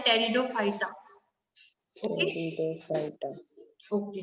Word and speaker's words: Pteridophyta: तो वो उसके बेस पे हो सकते हैं कि आपको एमसीक्यूज पूछे okay now next is given टेरिडोफाइटा P is silent over here so आपको बोलना है टेरिडोफाइटा ओके Pteridophyta.